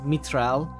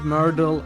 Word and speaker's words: Mytrel: So yeah, the cor the the official uh pronunciation decided by me is Mitral, but people pronounce it all sorts of ways, and I